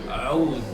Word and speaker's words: oud: Oud. Aoud. How would you spell that?